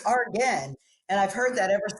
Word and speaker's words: Argen: I think she was the one that pronounced it funny, and then somebody said it. No, it's Argen.